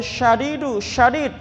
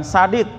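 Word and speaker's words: شديد: Wallahu, dan Allah itu syadid, Pak Shin ya Pak, bukan sadid.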